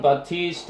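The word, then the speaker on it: Baptiste: 자, 라마르크 씨라는 진화론에 기여했던 분에 대한 얘기인데, 자, 존 바티스트 할 때 P가 묵음이에요.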